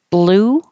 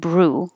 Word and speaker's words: blue: Alabama blue and blue what is helpful to avoid an extra sound in these between the B and the L is to have your tongue in the L position already before you make your B so my tongue's waiting ready and then when I open my lips blue blue if you wait and